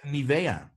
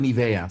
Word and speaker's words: Nivea: We call it Nivea. Sorry. Nivea. Yeah, that's the Dutch way to pronounce it.